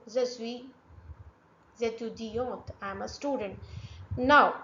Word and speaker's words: étudiante: If any word ends with e, you have to pronounce till that vowel sound. It's compulsory. Je suis étudiante. Otherwise, without e, it will be pronounced as étudiant. Étudiant, without the letter T.